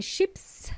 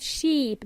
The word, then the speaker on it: ship: I'm not talking about sheep, domesticated animals, okay? It's a short E sound. Ship or ships in plural.